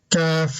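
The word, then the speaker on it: كَ: And the single letters, kaf, lam, ba. Kaf is pronounced with a fatha ka.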